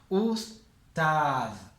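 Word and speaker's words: أستاذ: Acuérdense que siempre que aparece el alif con hamza lo que pronunciamos es la vocal. Us. Juntamos esta con esta porque esta tiene un sukun, entonces si tiene un sukun se suma esta sílaba.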